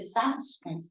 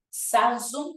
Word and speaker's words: Samsung: fábrica esdrújula surcoreana Pero recuerde el caso de Samsung No qué pasó con Samsung no tiene resalte